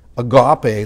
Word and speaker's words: agape: called love agape love or louis agape love as you recommend we pronounce it in the south agape love and compassion in